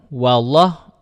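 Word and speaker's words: والله: Huruf wa berharakat fathah kan dibaca wa dan jangan sampai terkontaminasi dengan lafaz Allah. Allah kan tebal memang. Lafaz Allah tebal. Allah huruf lam pada lafaz Allah tuh tebal. Tapi huruf wnya itu tetap tipis. Jangan wo. Kalau wo jadi tebal, maka bacanya wall. Jadi ketika wa wal jadi wnya jelas.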